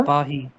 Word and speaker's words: पाही: पाही। पाही। जो इकार है वो पाही। हाँ, उसको लंबा भी कर सकते हैं, वो एक छंद में विकल्प होता है, पर हम तो इस